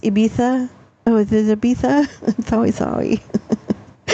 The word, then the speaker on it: Ibiza: Oh, it's pronounced Ibiza.